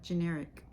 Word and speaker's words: generic: Y for example cytoplasm G sounds like J when it comes before EI i and y like generic I sounds like I